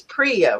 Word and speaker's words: Priya: with us is want to make sure I'm pronouncing it right it's Priya right that is exactly right awesome all right